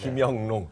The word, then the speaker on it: 김영롱: 6년이 지나도 제 이름은 잘 발음을 못하네요. 네, 섭섭하네요. 진짜. 김영롱.